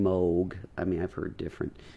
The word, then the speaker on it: Moog: said I don't know what a moo is and which is the wrong pronunciation Moog I mean I've heard